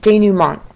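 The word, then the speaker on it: dénouement: that's paired with a French word that's that's pronounced numont and D numont let's start with that for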